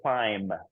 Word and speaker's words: climb: word is Naim right the B is the last letter but it's silent we actually say climb right climb not not